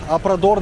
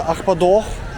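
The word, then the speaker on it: Arpoador: Ребята, по-бразильски Апрадор называется Ахпадох. Вот, это правильное произношение, чисто бразильское.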